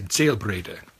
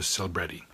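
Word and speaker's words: Selbrede: It's a German surname, and in Germany you would say Zellbrede. And in America it's been anglicized to Zellbrede. So if you hear someone say Zellbrede, you know they've never heard it.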